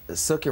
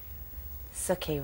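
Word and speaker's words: Sookie: always says, it's Suki rhymes with cookie. Suki rhymes.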